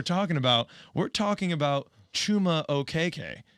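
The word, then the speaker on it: Chuma Okeke: he for his life chuma okiki but he he did some digging into you know his cultural background and he's realizing that it actually should be pronounced okay and we just so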